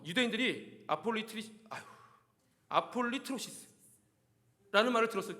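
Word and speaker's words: ἀπολύτρωσις: 속량.이 이 송량이라는 단어는 헬라어로 아폴리 아 발음도 어려워요. 제가 이거를 능숙하게 말하려고 아까 50번 읽고 왔는데 아폴리트로시스 아폴리트로시스입니다. 송량이 단어를 24절에서는 아폴리트로시스를 송량이라고 번역했습니다.이 단어의 뜻은 속량이지만 원래 단어의 뜻은 구속입니다.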